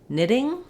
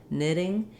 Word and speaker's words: knitting: Then when we get to the word knitting, as you can tell, the letter K is silent. So we just start on the N sound. Letter I has the I vowel, ni, knitting, and letters TT in the middle say a flap sound.